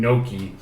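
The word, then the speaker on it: gnocchi: potato filed pasta yii he just said it wrong it's okay it's a hard word it's got a gene beside each other it's tough neither am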